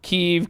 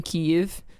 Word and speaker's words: Kyiv: was living alone in kiev kyb is that is that how they pronounce it there keeve keeve okay don't you say like you have something in your mouth keef got it i'm sure